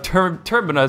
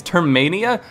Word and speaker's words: Termina: So in this video, he got criticized for his pronunciation of Termina, saying it's Termania.